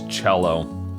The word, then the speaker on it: cello: in my head and when i got to see i was thinking cello that's not a word it's cello okay cello there we go